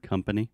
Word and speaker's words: company: And also, could you pronounce the word company? Company? Yes, this is very similar to discover. So this is the schwa sound, o som do schwa, company.